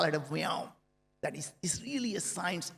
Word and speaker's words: Viome: The we is life, and omics is science, the science of life. And I wanted to call it a Viome.